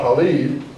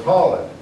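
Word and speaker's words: Khalid: holled is the commander see I know it's not Haled so it's holid you know uh the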